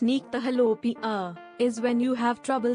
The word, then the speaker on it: nyctalopia: Night blindness, also known as nyctalopia, pronounced nyctalopia, is when you have trouble seeing in dim or dark settings.